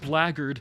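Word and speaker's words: blackguard: Yeah, it sounds cool to fantasy, but it's pronounced blarded, which sounds like an insult, which is better because it was an insult.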